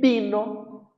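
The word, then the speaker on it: vino: E aqui também se pronuncia com o som de B, bino, tá? Bola de bola mesmo e bino de vinho, né?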